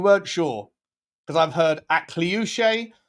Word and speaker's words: Akliouche: If you weren't sure, because I've heard Akliouche, I've heard Akliouche, I've heard Agilouche. Loosh, push pineapple, shake the tree.